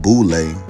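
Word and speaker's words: Boulé: The Boule, the acronym for the Sigma Pi Phi, pronounced Boule, was formed to bring together a select group of educated black men and women, fashioned after the Yale Skull and Bones.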